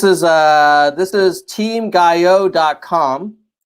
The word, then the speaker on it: Gayot: a this is team guy Oh calm the T is silent it what is the